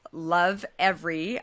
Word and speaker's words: Lovevery: co-founder and CEO of this amazing company called Lovevery. Hopefully I'm pronouncing it correctly.